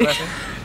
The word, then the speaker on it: Rudison: Is that how you say it? Rudison? Yeah. Rudison. You said Rudison. It right.